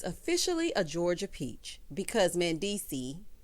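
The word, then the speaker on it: Mendeecees: So Yandy tells us that she's officially a Georgia peach because Mandisi, S is silent, child, said that he no longer wanted to be in New York and he wanted a fresh start.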